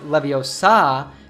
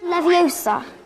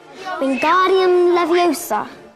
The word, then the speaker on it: Leviosa: saying when guardium leviosa you should not pronounce leviosa with an open ah sound at the end but rather with a schwa sound so instead of saying leviosa you should say leviosa this is really useful